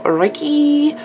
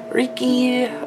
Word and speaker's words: reiki: to teach myself is formal reiki reekie uh pronunciation of that i've heard multiple ways so i'm just gonna say both but i've been trying to